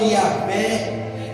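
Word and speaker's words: Yahweh: Quando você vê lá o pentagrama divino do nome de Deus, né, Y, H, aquela sequência de 5 consoantes, ela é soada como Yahvé, ela é soada com uma vogal, mas é no popular da fala, não da escrita.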